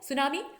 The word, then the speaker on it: सुनामी: नष्ट कर देती तो यह जापानी भाषा का शब्द है सुनामी और इसकी स्पेलिंग यह रोटी से आरंभ होती है लेकिन हम उच्चारण करें इससे यानि सुनाने तो देखिए यह जो